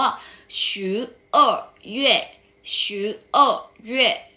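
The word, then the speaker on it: 十二月: สุด ท้าย ของ เรา ออก เสียง ว่า ชื้อ เอ้อ อยู่ และ ชื่อ โอ เวด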